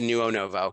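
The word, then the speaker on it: Denuonovo: new onobo is d-e-n-u-o-n-o-v-o it actually sounds just like it's spelled but it looks very confusing at first to neuo novo and it means to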